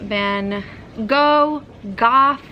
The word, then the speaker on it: Van Gogh: The only thing you really wanted to see was the Van Gogh, Cough. I really thought the pronunciation was Van Gogh. Apparently that's the British one though.